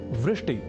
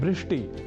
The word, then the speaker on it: वृष्टि: एक शब्द है वृष्टि या वृष्टि, पर कभी कभी हम में से कुछ व इस अक्षर का उच्चारण ब के रूप में कर दिया करते हैं और वे बोल जाते हैं वृष्टि या वृष्टि।